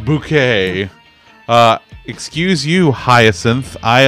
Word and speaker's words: Bucket: I don't know buddy I don't know it's pronounced bouquet uh excuse you Hyacinth I understand that reference